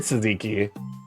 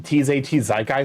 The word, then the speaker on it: tzatziki: I'll be honest with you, like it would be a weird tzatziki. Or I'm sorry, I've mispronounced it. It's actually TZT Zaikai sauce.